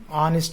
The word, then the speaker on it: honest: Here H is silent. Honest, a sound means a sound. A means vowel sound. That's why an honest is the right usage.